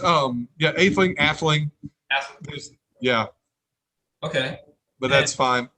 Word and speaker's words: Atheling: means prince or no middle nobility am i pronouncing it correctly uh whoops hold on a sec yeah it's um yeah athlete etheling yeah okay but that's fine the jets it's